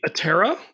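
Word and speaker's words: Aptera: panels it's called the atera spelled like a p t e r a the p is silent because it means wingless I was thinking of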